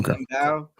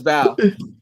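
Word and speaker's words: Mbow: Mbao? I keep forgetting if you pronounce the M or not. Yeah, he doesn't. Now I know. Marcus Bowe.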